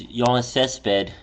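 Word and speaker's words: Yoenis Céspedes: His name's Yiannis Cesped. I'm pretty sure I pronounced Yeah, you got it right.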